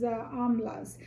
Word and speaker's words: amla: get out of these amlas amla is the indian name so it's spelled like a mla or as i said